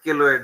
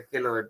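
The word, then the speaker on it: keloid: ধরেন যে গালে একটা পিম্পলস ছিল, বা ধরেন শরীরের কোন একটা জায়গায় একটা কেলোয়েড হয়েছে, ধরেন ধরে নিলাম যে একটা হাতে একটা কেলোয়েড বা কিলোয়েড যেটা উচ্চারণ করেন, কেলোয়েড তো বুঝছেন, ওই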